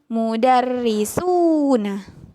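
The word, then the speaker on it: مدرسون: dibacanya suhu contoh katanya mudarrisuna mudarrisuna bedakan ya ketika dibaca panjang ketika kalian mendengar ustadz-ustadzah membaca panjang itu tandanya menambahkan huruf wau di dalam kata tersebut mudarrisuna berbeda dengan mudarrisun muda RRI John kalau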